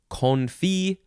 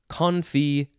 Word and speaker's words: confit: Next is, you can pronounce it, let's see, that's all very similar. Confee, confee, confee. Just different ways to say that first syllable.